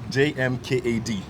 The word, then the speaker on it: JMKAD: Okay, so Jmkd, the name is pronounced Jmkad. It's not So it's not Jmkad. Jmkad. It's not an acronym.